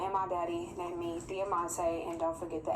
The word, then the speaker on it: Diamante: She's Dominican, so go ahead and say Diamante, girl. Diamante. Diamante. So that's how you pronounce it.